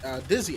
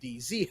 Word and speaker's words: Dizzy: of by the ace Dizzy, excuse me, as I was informed in the break between that it's actually Dizzy, not DZ, and I've just been pronouncing it wrong for months at this point.